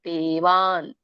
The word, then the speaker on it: ದೇವಾನ್: ದೇವಾನ್ they ದೀರ್ಘ ಇದೆ, ವಾನ್ ಅಲ್ಲಿ ವ್ಯಂಜನ. ದೇವಾನ್.